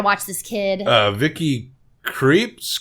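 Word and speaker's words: Krieps: oh we gotta watch this kid uh Vicky creeps Crips uh it's spelled k-r-i-e-p-s she plays Alma Daniel Day Lewis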